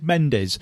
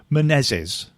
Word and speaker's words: Menezes: I always says Mendes, and as Vasco points out, the D in it is both silent and invisible. It should be Menezes.